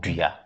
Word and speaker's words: dria: any sort of bean is called dria.